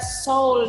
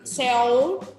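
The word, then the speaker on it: 서울: Jadi kalau misalkan ada soul nih, ini cara bacanya bukan Seoul, tapi Soul. Soul. Bukan Seoul. Soul.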